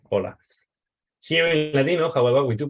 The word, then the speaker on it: hola: pronounced very different so in modern Spanish the H is silent right if I say hola I write an age but I don't pronounce it I pronounce it as